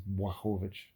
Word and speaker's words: Błachowicz: The thing that Błachowicz, sorry, his name is Błachowicz, I think is actually how they say it in Poland, but Błachowicz, he he